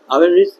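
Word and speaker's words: often: Have they have ऑफेन ऑफेन प्राय ओ एफ टी एन इसको ऑफ नहीं पढ़ के हम लोग क्या पढ़ते हैं ऑफेन पढ़ते हैं साइलेंट होता है they have ऑफेन cheated you cheated you they have ऑफन cheated you.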